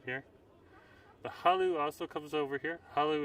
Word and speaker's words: Hullo: It's spelled Hullo, and it's Halu.